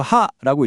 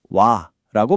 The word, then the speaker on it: は: 이거 하라고 읽어야 할 거 같잖아요. 그런데 이렇게 문장의 주제를 나타낼 때는 와라고 발음해요.